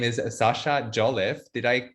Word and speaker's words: Jolliffe: His name is Sasha Jolliffe. Did I pronounce that right?